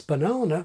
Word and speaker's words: banana: For example, there are speakers who pronounce banana with the vowel of book in the first syllable and the vowel of nut in the final syllable.